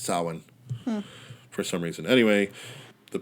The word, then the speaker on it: Samhain: Samhain. Even though it's spelled Samhain, but it's pronounced Samhain for some reason.